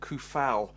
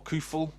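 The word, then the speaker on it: Coufal: year old right back vladimir kufal or khuful depending on your pronunciation uh from basically so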